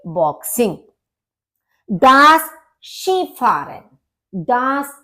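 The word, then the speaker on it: Skifahren: फारन दास शि फारन अब यहां पर आप सोचेंगे कि के लिखा हुआ है के और आई तो के की साउंड तो आ नहीं रही है लेकिन इसका जो प्रोनंसिएशन है वो डिफरेंट है अपनी स्पेलिंग से तो इसका होता है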